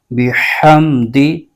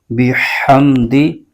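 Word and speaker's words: بِحَمْدِ: زیر بح، فسبح فسبح۔ آگے با کے نیچے زیر ہے، بغیر کھینچے پڑھیں گے، ہا پر زبر ہے اور آگے میم ساکن ہے، اس کو ہا کے ساتھ ملائیں گے۔ دال کے نیچے زیر ہے، اس کو بغیر کھینچے پڑھیں گے۔ اس کے ہجے یوں کریں گے، با زیر بی، ح میم زبر حم، بحم، دال زیر دی، بحمدی۔ ہا کو حلق کے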